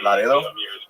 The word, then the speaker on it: Laredo: yeah she's from Laredo she pronounces it Laro which is fun she's